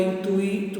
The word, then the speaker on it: intuito: Tem protótipo, é protótipo, é intuito, é intuito.